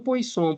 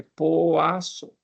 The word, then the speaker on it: Poisson: A pronúncia disso aqui, ó, não está falando Poisson por aí, não. É Poisson, tá? Assim que pronuncia.